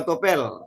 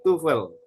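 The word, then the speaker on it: TOEFL: Tes tupel itu dua bacanya tupel bukan topel. Bacanya tuel ya. Tes tupel. Banyak orang katakan topel. Salah bacanya tuel. Heeh. Ya, tuel ya, bukan topel.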